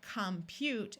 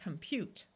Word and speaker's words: compute: Since prefixes are rarely accented in English, these O's are going to tend to schwa and sound more like a short U rather than a clear ah sound.